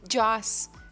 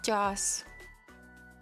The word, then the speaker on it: Joss: how are you sleeping oh no Joss it's Joss there I said it right I said it right